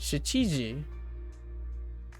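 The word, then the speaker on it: し: ch ch ch and Shi the she is supposed to be like she in sheets okay keep sheet eat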